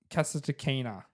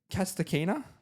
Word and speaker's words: Kasatkina: Daria Kasatkina.